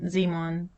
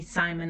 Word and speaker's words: Simon: This is where my son Simon was born, which might explain the pronunciation of his name, which would be Simon in English.